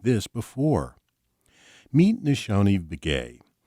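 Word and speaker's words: Nizhoni: Meet Nishoni Begay. Her first name is pronounced Ne-jo-ne and means beauty.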